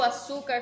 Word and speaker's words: açúcar: O su é o mais forte, então a sílaba tônica de açúcar é su.